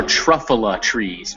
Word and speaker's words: Truffula: okay and uh the trees are truffula trees truffle truffula trees all right now that you're